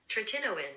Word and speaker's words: tretinoin: the screen somewhere, and this is Google's pronunciation. Tretinoin. Which is not at all how I would have pronounced it.